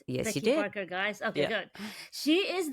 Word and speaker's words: Becky Parker Geist: Today, I have with me Becky Parker Geist. Did I pronounce it right? Yes, you Becky did. Parker Geist.